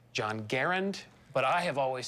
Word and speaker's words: Garand: Garand which is it people often called him Garand but it's really Garand French Canadian family came down when he was 12 years old but he carry that name and that pronunciation all his life he worked here from